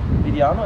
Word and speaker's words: Vidiano: Vidiano, am I pronouncing it correct?